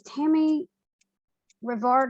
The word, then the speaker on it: Tammy Revard: anne harrison and today my special guest is tammy rivard and if i've mispronounced your name that's right you've got it